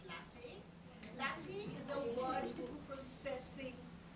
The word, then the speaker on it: LaTeX: It's not latex as it's spelled, it's pronounced as latte.